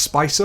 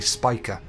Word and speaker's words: Spica: I always thought it would be pronounced Spicer or Spica or something like that, but it is apparently Spica.